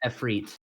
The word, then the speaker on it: Efreet: Well, it has an I at the end, so Well, pronunciation. well, it Ephridi? also well, it also Efreet. does Okay, depend. it's Efreet.